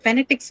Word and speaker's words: phonetics: So the second syllable, which is na, phonetics, right? Not phonetics, phonetics, right?